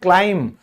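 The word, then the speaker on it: climb: हम कहते हैं क्लाइम। तो ये बी बोला ही नहीं जाएगा।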